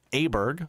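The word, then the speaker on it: Åberg: found out how to say his name properly aberg Ludwig aberg um 140 you can see in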